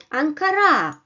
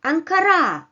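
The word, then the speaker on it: Анкара: Ankara Ankara well uh in the first position uh the capital r is not stressed it doesn't have the upper Mark the upper bar so it comes in an unstressed position while in the second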